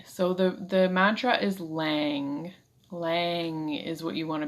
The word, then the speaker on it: Lam: of the spine and uh it oh it's pronounced lang so the the mantra is lang lang is what you want to be saying